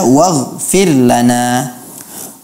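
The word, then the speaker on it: وَاغْفِرْ لَنَا: Sedangkan pada saat membaca waghfir lana, waghfir lana, juga saya mendengar adanya qalqalah pada huruf ghain. Waghfir lana, waghfir lana, itu dihindari. Waghfir lana. Ya. Seharusnya dibaca waghfir lana.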